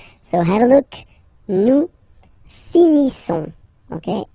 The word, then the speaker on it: finissons: Nous finissons. Okay, ISSONS. Issons. Nous finissons. Finissons. Okay, final S, not pronounced. Nous finissons.